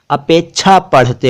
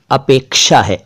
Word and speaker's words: अपेक्षा: अपेक्षा, अपेक्षा नहीं, कुछ लोग इसे अपेक्षा पढ़ते और बोलते हैं, वो उच्चारण गलत है। सही उच्चारण अपेक्षा है, अपेक्षा, अपेक्षा।